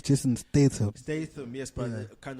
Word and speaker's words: Jason Statham: Jason Stansham, Stantman. That's his name. No, I'm saying His like name is Jason Statham.